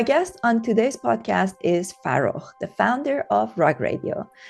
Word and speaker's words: Farokh: background like FAROKH, and that's the correct pronunciation of his name in Persian.